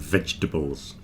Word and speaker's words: vegetables: Come on, everybody knows that we don't pronounce the middle part of vegetables. It's certainly not vegetables. Don't stress the tables at the end.